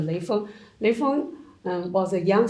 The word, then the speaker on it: Lei Feng: Lei Feng, in Chinese pronunciation, the Lei Feng.